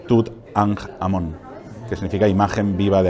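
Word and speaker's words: Tutankhamón: a nj el sol fonéticamente es una jota que significa vida no por tanto nosotros deberíamos pronunciar tooth and Amón que significa imagen viva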